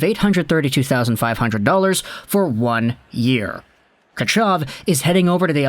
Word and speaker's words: Tkachyov: is spelling his name vladimir ketchuv which is a lot more accurate as to how the russian guys and the khl broadcast pronounce his name but the contract is